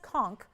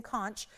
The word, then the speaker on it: conch: That is the what we call the queen conch shell and it is pronounced conch like I just conched my head on the equipment at the gym.